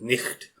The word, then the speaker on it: night: Like, if you listen to it, especially once you see the fact that GHs were pronounced as like a hard sound. Yeah. So night was pronounced as nicht, things like that.